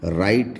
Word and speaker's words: write: अगर W और R एक साथ आएंगे तो W साइलेंट हो जाएगा, जैसे कि WRITE, राइट। राइट मीन्स लिखना।